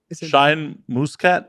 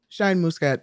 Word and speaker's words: Shine Muscat: English is it yes shine moose cat is not shine Muscat muscadine okay I'm Southern